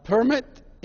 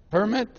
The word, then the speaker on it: permit: Here you say permit, you go to get your driver's permit, but when it's a verb, I permit you to do. This is permit, this is permit.